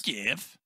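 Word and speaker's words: Gef: My name is Jeff. I think it's yeah, they spell it with a G, but the pronunciation is just normal Jeff.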